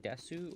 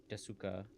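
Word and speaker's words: です: Or is it Desu or is it Des? So Ogenki Desuka and Genki Des. Des. Okay. I always said Desu. I guess I've been saying it wrong my whole life.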